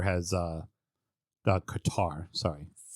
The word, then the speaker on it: Qatar: cutter has uh the Qatar sorry them both either way you want to pronounce it put the word in front of it and you've pronounced it correctly um but obviously uh